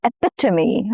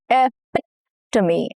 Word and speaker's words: epitome: She is the epitome of kindness. Epitome. Some words keep their Greek and Latin roots. Here the stress falls on the second syllable which is epitomy.